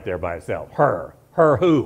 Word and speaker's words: Hur: In Hebrew, it is the particular Hebrew letter that has that little bit of a guttural sound. We might even spell it with a C-H, like we do the place across the street, Chabad.